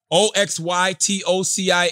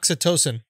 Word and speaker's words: oxytocin: O-X-Y-T-O-C-I-N. How do you pronounce that? Oxytocin. Oxytocin.